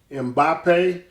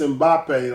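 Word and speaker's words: Mbappé: the brother from France I think is pronounced zimbape Killian and Bape mbappe yeah he's I I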